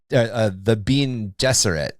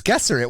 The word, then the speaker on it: Gesserit: And you'll get people that will be like, no, it's the Bene Gesserit. And like, why would it be Gesserit? It's Gesserit. Why are you pronouncing it?